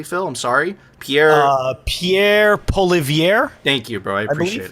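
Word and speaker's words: Pierre Poilievre: United States and Canada will you see with Pierre pulo or did I pronounce his name correctly Phil I'm sorry Pierre uh Pierre poier thank you bro I appreciate it yeah so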